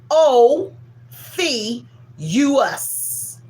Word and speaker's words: Ophiuchus: O F us.